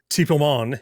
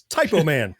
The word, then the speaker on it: Typoman: But it's called, it's not French, so it's not Typo. It's Typo Man. Is that how you say it in French? Probably not. Typo Man is the name. So Typo, like I made a mistake typing.